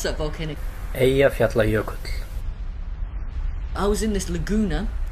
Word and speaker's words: Eyjafjallajökull: Can you pronounce that volcano? Eyjafjallajökull.